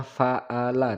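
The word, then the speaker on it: فَعَلَ: Kaifa, kaifa fa'ala. Nah, di sini terdapat ain. Hati-hati keliru dengan huruf hamzah fa'ala tetapi ain.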